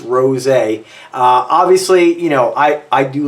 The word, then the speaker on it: Rosé: This is Signature Rosé, and it is pronounced Rosé.